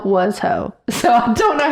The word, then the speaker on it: Washoe: It's Washo. It's exactly what it looks like.